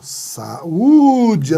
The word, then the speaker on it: saúde: saúde com a saúde saúde é o hiato é saúde a segunda vogal é i u é um é tônico é tônico desde ontem na sílaba